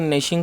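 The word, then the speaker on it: gnashing: ग्निशिंग his teeth, दोस्तों जी इसमें silent है तो उसे नेशिंग पढ़ेंगे।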